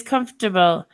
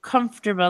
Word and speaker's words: comfortable: UK pronunciation okay so what they do is comfortable they don't pronounce the R I do comfortable let's find the American